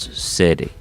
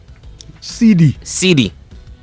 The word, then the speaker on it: cedi: Ghana's very own city, not city. CD. Yeah, that's how you say it right.